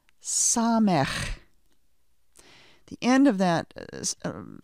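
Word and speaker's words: ס: Next comes our letter Samech. The end of that name of the letter has that chet sound. Samech. Repeat after me. Samech. Note that the sound of the Samech letter is the s sound, the s sound.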